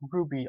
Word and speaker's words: RWBY: Wie ich bereits mehrfach angekündigt hatte, soll es diesmal um die Stormflower gehen, die Waffen von Lai Ren aus der Serie RWBY, auch Ruby ausgesprochen.